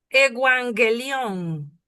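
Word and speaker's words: εὐαγγέλιον: Igual, evangelión. ¿A qué le suena evangelión? Evangelio. Evangelio. El evangelio lo vamos a pronunciar con una doble gamma.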